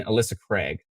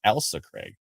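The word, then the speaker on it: Ailsa Craig: who have subscribed so i keep pronouncing alyssa craig elsa ah i see it's more like elsa craig oh pronounced elsa craig thank you appreciate that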